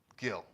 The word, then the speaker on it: Guil: Am I pronouncing it right? Guile? G-U-I-L or Gil? Guile first or Gil second? Gil.